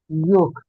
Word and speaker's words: yolk: In this words, the L is silent. It's starting coming. Calf, Okay. ah, calf, ah, Okay. salmon, Okay. food, cool, Okay. wood, yolk, pork.